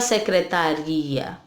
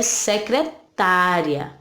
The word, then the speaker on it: secretária: A gente não fala secretaria, né? Nessa palavra não, secretaria já é outra coisa, né? Aqui é secretária, né?